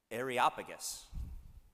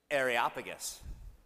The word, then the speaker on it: Areopagus: a meeting of the I'm gonna get this right areopagus that's how i pronounced it I actually listened to the YouTube video that said how to pronounce it say with me areopagus where they said to